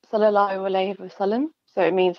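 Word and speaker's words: صلى الله عليه وسلم: So it's pronounced Sallallahu Alaihi Wasallam.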